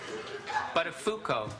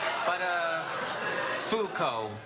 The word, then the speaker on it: Buttafuoco: It's, Buttafuoco. Buttafuoco. What did I say? Well, Matthew, of all the possible mispronunciations of that name, you seem to have stumbled upon absolutely the worst one.